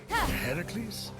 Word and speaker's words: Heracles: you doing there that thing with your voice Heracles yeah that that is how it's supposed to be pronounced seems like a lot of work but